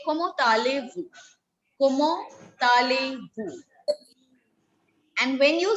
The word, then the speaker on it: comment allez-vous: When you ask it formally to somebody older to you, you say comment allez-vous?